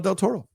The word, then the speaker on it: del Toro: What did you think of this movie uh, from GMO del Toro?